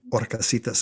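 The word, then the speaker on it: Horcasitas: got orcis island from orcasitas and of course the h is silent so she got her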